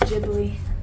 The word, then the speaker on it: Ghibli: So today is Studio Gilby Day in the house. Mary's sitting around watching Studio Gilby. Huh? I think it's pronounced Ghibli.